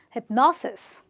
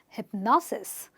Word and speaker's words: hypnosis: I stress on the syllable before the SIS, and I say hypnosis, hypnosis, osmosis, hypnosis.